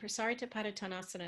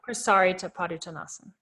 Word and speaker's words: Prasarita Padottanasana: So some people say Prasarita. Is that not how you pronounce it? I don't believe so. I haven't seen it written in Sanskrit, but Prasarita Padottanasana is how I was taught.